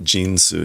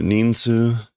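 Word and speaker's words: 人数: It's not Jinsu. Ninsu.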